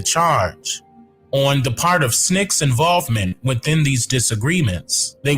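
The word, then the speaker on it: SNCC: chairman of that committee why called Snick uh called Snick it was called snck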